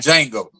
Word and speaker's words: Django: I looked at Django the other day. I was just some Black History moments, man. Oh yeah. You got to look at the D is silent.